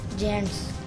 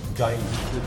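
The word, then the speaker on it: giant: ये जेंट्स बनता है? जाइंट। जाइंट को जेंट्स पढ़ दिया।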